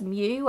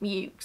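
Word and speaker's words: Meux: name is spelt m-e-u-x which you would think would be pronounced as mu as is a french spelling but my research tells me that this specific family pronounced it mukes so what am i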